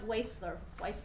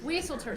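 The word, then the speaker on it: Wieseltier: And there was a fantastic quote on there from Leon Weisler, I always get his name wrong, who has recently had his own fall from grace. Wieselter, thank you.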